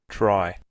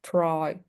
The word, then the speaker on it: try: red, try, Red, red, try. So you have to soften the R. Don't pronounce like Spanish. In Spanish, it's very strong. In English, we're going to mark it different.